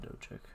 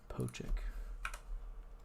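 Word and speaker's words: Pocic: Ethan Oh, not Doic. Pochic.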